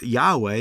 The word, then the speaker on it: Yahweh: And people have been doing this for a while, but oddly enough, Jehovah is not the Lord's actual name, and it's not pronounced that way in any language. It's Yahweh or Adonai or Lord, or like our Bibles.